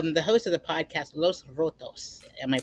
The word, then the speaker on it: Los Rotos: Man, and so you're the host of the podcast Los Rotos. Am I pronouncing it right?